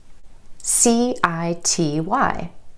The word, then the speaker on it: city: C-I-T-Y. Instead of city, city.